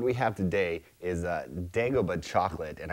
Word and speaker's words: Dagoba: have today is a dagobah chocolate and i think that's how you pronounce it not dagobah dagobah dagobah like from star wars and i was on